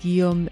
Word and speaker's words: Guillaume: Please correct my pronunciation of your name and let let the listeners know where you work and then we'll get started with update on the case. Yes. So that's Giam. That was perfect.